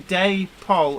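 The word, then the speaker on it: Dapol: um Jamie Smith says I would pronounce that as in day pole and not dactyl that's how Dave always used to pronounce it and this this argument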